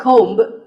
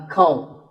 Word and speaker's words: comb: This is a comb. Not a comb, a comb.